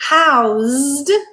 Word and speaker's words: housed: He housed, z, voiced, he housed his boat in an old stable. In this sentence, we used a voiced sound, z, and the word changed from being a noun to a verb.